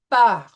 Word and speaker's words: par: And you'll notice that we will be pronouncing the French R in par and cher. It will have that uvular L, par, cher. So it won't be par and share, it'll be par, share.